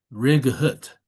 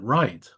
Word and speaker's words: right: So why don't we say rig hut? So why is it right? Why is the g silent and why is the h in there if we we don't even pronounce it like that either.